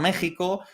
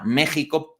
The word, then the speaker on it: México: paréntesis Ya sabéis que en castellano antiguo la x se pronunciaba J no entonces Jimena un nombre de mujer pues se ponía con una x no Jerez con una x se ponía México conserva la x porque